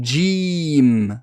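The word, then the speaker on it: جيم: qui est très répandue c'est le fait de prononcer cette halle est là comme un gie français ce n'est pas jaloux j le gie arabes ne se prononce pas pareil à la sonorité c'est comme s'il y avait un des juste avant que dja djé djé et ce n'est pas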